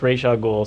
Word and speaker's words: Ra's al Ghul: Well, at least we'll go on record saying the guy who created him says it's Ra's al Ghul, so we can just let it lie now.